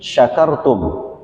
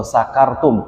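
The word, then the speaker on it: شكرتم: kepada kalian nah ini hati-hati jangan bacanya pakai Sin kalau Sin syakartum kalian bersyukur berterima kasih Tapi kalau sakartum pakai SIM itu mabuk nih hati-hati nih kalau dibaca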